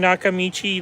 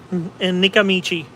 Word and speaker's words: Nakamichi: You know, for uh funny thing is for a long time um I kept calling Nakamichi like um Nikamichi. Um I couldn't pronounce it properly.